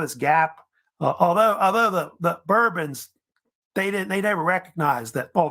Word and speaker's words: Bourbon: However, if you know about it, the French don't pronounce it that way. They say it Bourbon, by the way. But the United States, they start saying Bourbon because of Bourbon County, which is up in Kentucky, where they started making bourbon whiskey.